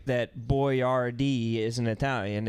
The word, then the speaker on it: Boyardee: these days he decided to name his product boy r d to help americans pronounce his name correctly yeah he basically was